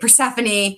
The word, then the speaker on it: Persephone: I love the like trio of, I'm gonna butcher this, Calla, Persephone, that's how you say it, Persephone, and Mara.